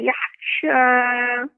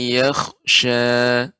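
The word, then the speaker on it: يَخْشَى: Saya zakkaru may yakhsha. Ya, kha-nya lebih tebal lagi, Nek, pengucapan kha isti'la. Sayadzakkaru man yakhsha.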